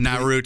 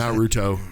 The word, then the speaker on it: Naruto: staying watching anime naruto yeah but i'm watching not root how do you say it how are you supposed to be naruto okay but i'm watching bleach right now which